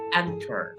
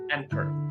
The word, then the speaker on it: anchor: It's written with ch but the ch is pronounced k. Anchor. Anchor.